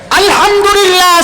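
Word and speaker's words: الحمد لله: হা টা উচ্চারণ করতে হলে গলায় চাপ দিয়ে উচ্চারণ করতে হবে বলতে হবে আলহামদুলিল্লাহ আল্লাহু আকবার আল্লাহু আকবার বলেন আলহামদুলিল্লাহ আলহামদুলিল্লাহ এই যে আমি আপনাদেরকে আপনারা পড়তেছেন এই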